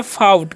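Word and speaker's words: fought: हम क्या पढ़ते हैं इसे हम पढ़ते हैं फाउट क्या पढ़ते हैं फाउट पढ़ते हैं यहां पर जीएस साइलेंट होता है ठीक है तो इसका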